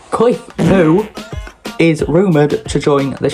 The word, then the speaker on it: Pu: Cliff Poo. And I do severely apologize if I've got his last name wrong, but it is literally spelled Pu. So, I'm going to say it. Cliff Poo is rumored to join the Sheffield Steelers.